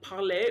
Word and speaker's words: parley: So, parlay Parlay is like a as like known in Pirates of the Caribbean is just like a mis- it's like a weird pronunciation of like parley, which is um to speak or talk in French.